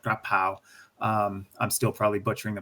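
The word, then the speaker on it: กะเพรา: So, pad kapao. Kapao is actually their word, or more, it's pronounced more like grapao.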